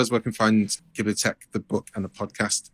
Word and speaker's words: Ghibliotheque: Ghibli Tech is spelt GHIBLIOTHEQUE.